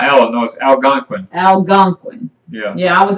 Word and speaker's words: Algonquin: how they do Algonquin yeah Oh Algonquin our again okay I'm putting an extra syllable in there they say as you can say can or Quinn yeah but I was